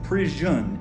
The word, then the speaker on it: misprision: It's prision. It's almost like prison but you have the i o n.